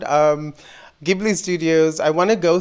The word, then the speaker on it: Ghibli: say I'm pronouncing it gibli Studios I know some people are like it's gibl but I'm going to be with a G hard G hard G sound um gibli Studios I want to